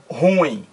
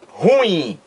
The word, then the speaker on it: ruim: a pronúncia correta é ruim duas sílabas ó Rui Olha aí duas sílabas ruim é uma palavra oxítona na língua portuguesa porque oxítona porque o